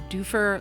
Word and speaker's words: Dufur: It is pronounced Doofer because their motto and tagline is, "What can we do for you?"